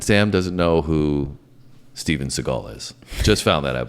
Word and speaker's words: Seagal: And so Steven Seagal, so you almost got me saying Segal. Is that's how it's spelled though.